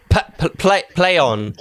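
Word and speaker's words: Plaion: Play on. That's the one. Yeah, because no one knew how to pronounce P-L-A-I-O-N.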